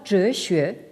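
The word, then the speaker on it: 哲学: Alors, donc, vous avez ce composé qui se prononce en japonais Tetsugaku et en chinois Zhexue, et qui signifie littéralement donc xue, l'étude de zhe, c'est-à-dire donc de la sagesse.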